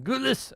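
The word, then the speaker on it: Gullis: Jonathan Gulis said in a statement to the broadcaster, I have to say it like that, G.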